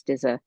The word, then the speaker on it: Stizza: My first name is with an E on the end, and of course, Stizza is spelled just like pizza without the P, as Stizza.